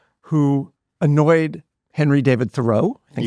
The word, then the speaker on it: Thoreau: who annoyed Henry David Thoreau, I think it's actually pronounced Thoreau, and who everybody thought was a joke.